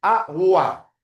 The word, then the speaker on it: agua: En la palabra agua, la gu no está con la n y con la i. Agua. Además, la u se pronuncia.